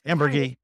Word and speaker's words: Amburgey: Did I say it right? Amburgey. It's Amburgey.